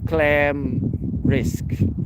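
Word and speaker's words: klämrisk: Swedish that word there when you see a a with two dots it's basically pronounced like e so clam risk so this thing falls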